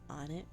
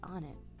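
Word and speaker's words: Onett: How we're in on it right now, because you know, my first experience with Earthbound was Smash Brothers Smash Brothers Melee for the GameCube.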